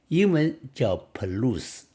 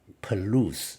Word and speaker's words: Palouse: state English name is Palouse This one I called the Palouse at first How do you pronounce it in English But the truth is It's a word borrowed from French Palouse in French Actually, what